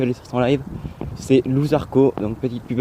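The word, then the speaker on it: Loup Zarko: C'est Louzarco, donc petite pub à lui.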